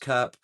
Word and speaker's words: CURP: To keep their phone working, Mexican phone users had to register it using their CURP, pronounced CURP, which is basically Spanish for Unique Population Registry Code.